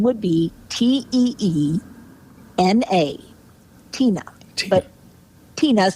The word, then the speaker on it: Teena: decided my name would be te na a Tina but Tina is spelled with two e not an i and